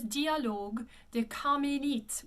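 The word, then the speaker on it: Dialogues des Carmélites: And this one is Dialogue des Carmélites, with that accent aigu again, it closes at Carmélite.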